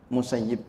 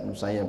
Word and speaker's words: Musayyib: ya qodiyat itu beliau memberikan catatan musayyib bacanya beliau catatan beliau bacanya musayyib tapi hemat saya terserah bagaimana kita mau baca musayab boleh mau baca musayib boleh yang penting kita punya